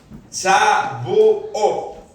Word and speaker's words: Shavuot: Entonces los judíos del Pentecostés lo conocen por la palabra, vamos a ver si la podemos pronunciar, es Shavuot, algo así. Shavuot, con T al final.